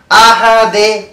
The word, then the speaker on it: أحد: أحد শেষে যে আমরা আহাদ বলতেছি এখানে কিন্তু কলকলা করতে হবে। আহাদ আহাদ একেবারে যদি বলি আহাদা হবে না, আহাদে হবে না। এখানে কলকলা মানে হলো প্রতিধ্বনি।